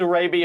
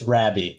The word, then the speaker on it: Rabie: We have David Rabby. Hopefully, I pronounce your last name correctly there, David.